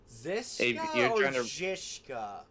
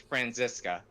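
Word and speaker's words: Franziska: fake laughing that much zishka it's francisa I know the name's German that's that's why I said jishka yeah no it's francisa okay so that's how it's pronounced yes okay I could have sworn in in Germany Z's were pronounced like a like a CH sound if someone wants to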